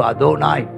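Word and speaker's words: Adonai: Jehovah அதோனாய், அடோனாய்னு இருக்கும், ஆனால் அதனுடைய உச்சரிப்பு அதோனாய் அப்படிங்கிறாங்க.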